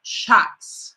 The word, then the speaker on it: Shaks: She's the founder of Shaks. Am I pronouncing correctly?